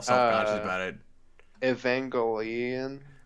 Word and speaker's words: Evangelion: We had to watch end of how you pronounce that again? Because now I'm all self conscious Uh, about it. Evangelion.